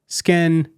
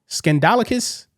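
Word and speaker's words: Skandalakis: Willis was disqualified from the case in 2024 and prosecutor Pete Scandalis, Scandalus, that's way you pronounce his name, took up the case.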